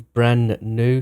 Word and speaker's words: Brannew: name a few times he's name is brand new so it's kind of like brand new so if I say